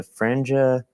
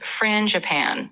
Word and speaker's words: frangipane: The franja? Yeah, no problem. It's pronounced frangipane, so kind of like frangican.